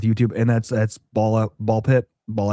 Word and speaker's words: Ball x Pit: I don't know if they pronounce the X or not, but you don't. No. Okay. So, it's ball pit.